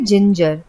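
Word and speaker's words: ginger: और इसी प्रकार इनमें भी ज बोला जाता है, जैसे जिंजर।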